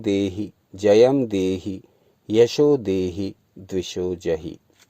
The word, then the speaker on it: जयम: रूपम देहि, जयम में या में बिंदी लगी हुई है, तो इसका उच्चारण जयम हो जाएगा।